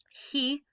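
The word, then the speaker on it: 日: the nietzsche means day he generally just means sun okay for right now i'd say he and nichi are the two main pronunciations has two of those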